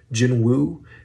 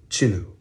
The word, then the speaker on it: Jinwoo: have not realized but the correct Korean pronunciation does not have the W sound in it so it is not Jin Wu it is chinu now if you want